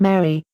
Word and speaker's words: mare: moon are called mare the commoner would pronounce this just as it sounds esoteric Li it is pronounced Mary the names of spots